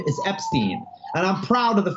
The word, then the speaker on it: Epstein: he would have said and my name is pronounced Epstein and my mother always told me but that's